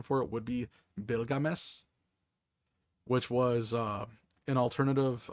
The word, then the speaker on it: Bilgames: Uh, I pronounce it Bill Games because it looks like Bills, but um, the correct pronunciation for it would be Bilgames.